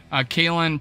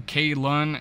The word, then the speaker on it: Kalon: Kalon, pronouncing Kalon, Barnes was best known for his exploits in